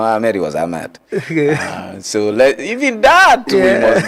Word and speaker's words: Ahmad: The man was not Ahmed. He was Ahmad. That's an interesting one. Government offices are writing their former president's name as Ahmed. He was not Ahmed, he was Ahmad.